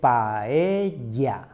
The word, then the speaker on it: paella: Paella. Paella. Never say paella or pela. When we see two L's, we pronounce it as the Y sound. That's why we say paella.